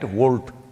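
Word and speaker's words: Wolt: Volt. I'm seeing the Volt bags everywhere on the motorcycles. It's spelt wrong though.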